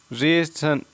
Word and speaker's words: ratio: वैसे ही बात करें RATIO, रेशन। रेशन क्या हो जाता है? रेशन, रेशन, उस प्रकार से।